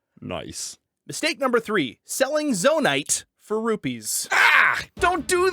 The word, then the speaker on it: zonite: and you're all out Zone Knight is best used for upgrading your battery and re and you're messing me up with all this bad pronunciation of zonite zonite is the best use